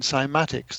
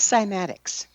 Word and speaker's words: cymatics: Um this is before I became uh interested in simatics.